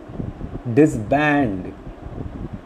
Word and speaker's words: disband: Disband, obviously we find the second syllable bur is stressed.